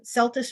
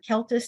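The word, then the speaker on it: Celtis: dwarf um uh species called um uh Celtics or celtus depending on how you want to pronounce it tenureifolia um we have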